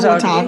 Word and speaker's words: Watauga: How you say that city? You said it right, Watauga. Watauga.